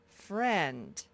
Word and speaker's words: friend: Fur, this is a silent letter, and friend.